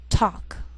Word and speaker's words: talk: sheal it wheel Veil sometimes L can be silent so you have to be careful the first five words listed below are very common so let's take the time to make sure that you're pronouncing them correctly listen and repeat after me talk walk could should